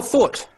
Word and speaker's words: thought: So what is a silent letter in thought? G. Just G. G? G-H. G-H. G-H. Yeah. Thought. G-H. T-H-O-U-T. Thought. Yeah, it would be G-H.